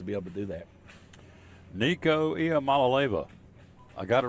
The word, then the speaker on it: Nico Iamaleava: Nico Iamaleava. I got it right, didn't I? Yeah, there you Look go. here, I phonetically wrote it out. Nico Iamaleava.